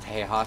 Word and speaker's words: Tejas: But everything's bigger in Tejas. And? Everything's bigger. It's pronounced Tejas, thank you. Tejas.